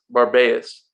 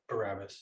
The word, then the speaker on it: Barabbas: And at that time, they had a notorious prisoner called Barabbas.